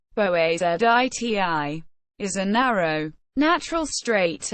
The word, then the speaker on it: Boğaziçi: the Bosphorus, �bεsfərəs or �bεspəres, or Bosporus, �bεspəres, Ancient Greek, beta omicron sigma pi omicron rho omicron sigma, Bosporos, Turkish, Boğaziçi, pronounced boağaziť, is a narrow, natural strait and an internationally significant waterway located in northwestern Turkey.